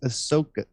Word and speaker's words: Ahsoka: It's Ahsoka.